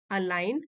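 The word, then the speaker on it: align: Outcomes rarely अलाइन, rarely अलाइन, जी silent है, with our expectations.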